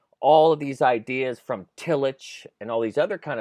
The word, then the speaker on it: Tillich: this Skype call, Martin Luther King was into Illich, right? Is that how you say it? Tillich, yeah.